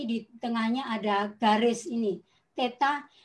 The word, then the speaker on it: theta: tengahnya ada garis ini Teta ya kita bacanya th kemudian ini huruf i-iii